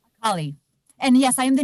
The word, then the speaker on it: Akali: Is she, how do you pronounce her name? Akali.